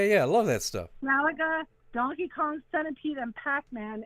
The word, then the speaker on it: Galaga: Galaga. Galaga. Gala. Gaga. Oh yeah, Galaga. Yeah, yeah, yeah. I love that stuff. Galaga, Donkey Kong, Centipede, and Pac-Man.